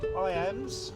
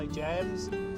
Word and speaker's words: Ijams: Today we are going to South Knoxville, south of the river, to a place called IAMS, or IJAMS. IAMS, I think is probably the correct pronunciation, which is a sort of outdoor wilderness area.